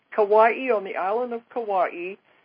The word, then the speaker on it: Kauai: But I want to tell people this next week I'm going to be in Hawaii, in, how do you pronounce that? Kauai. Kauai, on the island of Kauai.